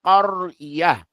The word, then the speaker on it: قرية: Al qaryah. Al qaryati. Fil qaryati. نعم. But I want you to pronounce the qaf with a clear fatha. Qarya.